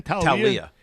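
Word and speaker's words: Taulia: Talia Tagovailoa.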